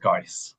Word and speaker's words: Geiss: It's pronounced Geiss.